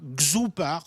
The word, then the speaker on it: X2OPAR: Xoupar, ça s'écrit X2OPAR. C'est made in France.